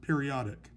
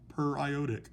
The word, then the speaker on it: periodic acid: way as the word periodic but it's pronounced periodic because it comes from the per iodate anion my last example here